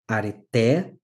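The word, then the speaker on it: ἀρετή: Então, areté, percebam como a entonação, a tônica, vai para a última sílaba.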